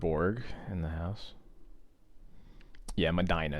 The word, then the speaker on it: Medina: in the house yeah Medina is the correct uh pronunciation oh well thoughts he's